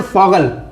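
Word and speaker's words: Vogel: लिखा वोगल मतलब होता है वर्ड, वोगल मतलब होता है वर्ड, लेकिन इसको हम लिखते हैं फॉगल, FOGEL, फॉगल।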